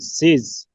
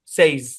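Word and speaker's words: says: আহ এসটা বাদ দেন, এসটা বাদ দিলে কি হয়? সেই সেই, সাথে একটা এস আছে, বাস, সেইজ। আর এসটা এখানে জেড এর মতো সাউন্ড দেবে, সেইজ। বুঝছেন? ওকে এই আর কি। এখানে একটা কথা বলি শুনে, অরিজিনালি এর উচ্চারণ হচ্ছে সেজ, অরিজিনালটা দরকার নেই।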